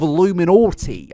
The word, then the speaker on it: iilluminaughtii: It is irony to the absolute maximum, but yes, this is the tale of iilluminaughtii, and that is how you pronounce the name, okay?